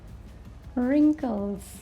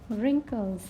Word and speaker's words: wrinkles: is wrap lipid now wrinkles wrinkles you will not start it from R you started from w next is silent words